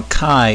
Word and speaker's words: chi: least two or more factors or groups now Chi is referring to the Greek small letter x which is again pronounced Chi and it's often referred to as the x